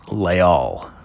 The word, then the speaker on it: Leal: Leal Le technically technically it's leol is actually how it's um traditionally pronounced but it doesn't roll off the tongue as nicely with the branding.